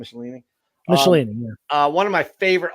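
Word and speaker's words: Michelinie: Is that how you pronounce his name? Michelini? Michelini, yeah.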